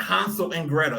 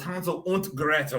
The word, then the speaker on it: Hansel und Gretel: If you notice that I pronounced it in like a German accent, because they are very German. It wasn't Hansel and Gretel. It was Hansel und Gretel.